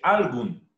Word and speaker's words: algún: Se dice algún, no se dice algún. ¿Por qué? Porque la mayor elevación de voz está en la U, en la última sílaba, algún.